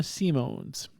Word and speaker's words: Simons: I don't know, but I wrote it down and I phonetically wrote it down the way she said it. So Simone Simones.